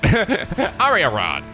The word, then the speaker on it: Arianrhod: Oh, is that how you pronounce it? Arianrhod.